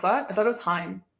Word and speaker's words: hime: This was when I like had black hair and like a hime cut, and Is that how you pronounce that? I thought it was Hime.